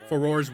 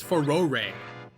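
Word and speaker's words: Farore: I was calling it Foror's Wind in Ocarina of Time. Apparently, it's Ferore or something like that.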